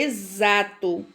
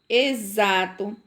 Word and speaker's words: exato: É exato. Exame, exato, exército e exercício. E exemplo, certo? Então, todas essas palavrinhas aí são escritas com X e tem o som de Z na sua pronúncia.